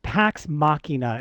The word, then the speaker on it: Pax Machina: It's called Pax Machina. It's spelled P like Paul, AX, Machina like machine, Uh-huh. Machina, Pax Machina.